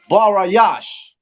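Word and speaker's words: בראשית: Genesis Genesis right now how do you say Genesis in the Hebrew no sweat for Tom's sake is barayash and it's spelled b-a -r-a a s h y a t h barayash right now what does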